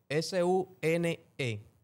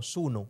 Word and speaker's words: Suno: ¿Cómo se escribe para que la gente lo S U n E okay? S U N N Sune. No, Suno.